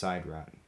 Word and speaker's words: Sidrat: The space/time machines that the War Chief provides for the games are only named Sidrat once, in episode 7 when it's pronounced Sidrat.